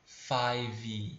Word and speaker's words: five: tá pai e detalhe dica de pronúncia tá esse é zinho aqui do final ele não sai na vamos é como se a gente a pronunciar-se até o ver né saiu esse é zinho ele não sai então você não deve dizer five como se tivesse um guiné five não tá errado tá não é five é fábio fábio isso 80 comigo tá